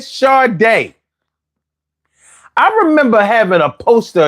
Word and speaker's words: Sade: And the whole fucking video, he called her Sadie, then he called her Sadi. He never once said Sade.